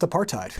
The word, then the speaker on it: apartheid: So I'm just going to drop that word in here, apartheid. And yes, despite the H, it is pronounced apartheid.